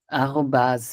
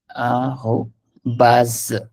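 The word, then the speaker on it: arobase: Arrobas. The pronunciation is baz. We somehow say the BAS as well. ठीक है. Arrobas.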